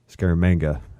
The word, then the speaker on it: Scaramanga: would later appear as scaramanga scaramanga is actually how you say it not like how I say it in the7 flick the man with golden